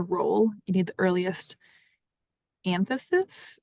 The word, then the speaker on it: anthesis: You need the earliest "anthesis?" I don't think that's how you pronounce that. : An-thee-sis.